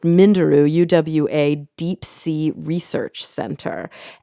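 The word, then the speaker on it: Minderoo: research fellow at the I think it's pronounced Mindaroo UA Deep Sea Research Center.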